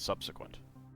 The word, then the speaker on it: subsequent: But no, common English pronunciation is subsequent.